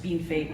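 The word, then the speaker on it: Bienfait: is robin rowhatton a ukrainian canadian born in bean fate saskatchewan and yes it's pronounced bean fate even though it's spelled bienvey i was raised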